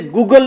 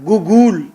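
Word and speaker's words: Google: गूगल, इसे गूगल नहीं कहना, गूगल. गूगल न्यू प्रोनाउंसिएशन इसकी है, गूगल.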